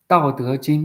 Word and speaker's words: Dao De Jing: So basically, if we would talk about Dao De Jing, or how you pronounce it? Dao De Jing, yes.